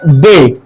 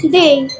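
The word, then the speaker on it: day: তাহলে তুমি বলো ঠিক আছে তো এটা হলো ডে ঠিক আছে কি না ডে না ডে ডে Saturday সানডে মানডে পড়ে নাই কি হবে হবে না সঠিক উচ্চারণ কি হবে ডেই ডেই কি হবে ডেই তাহলে এটা ভুল বলি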